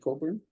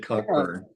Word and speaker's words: Cockburn: I know how to pronounce his name now because I said Cockburn. I said Cockburn. Oh, I Right, because that's how it's spelled, right?